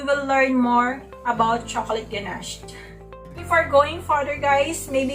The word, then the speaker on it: ganache: the cream naginayan idea how to pronounce it properly chocolate ganache but we can call